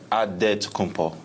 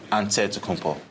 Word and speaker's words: Antetokounmpo: In a Greek way, you gotta say with a D, so it's Antetokounmpo. But in the Greek way, you say with the NT, like Antetokounmpo.